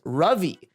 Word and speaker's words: Ravi: Also, the correct pronunciation of the Indian name Ravi is Ravi, and an A letter in any South Asian language is pronounced as an uh sound, not ah or aw.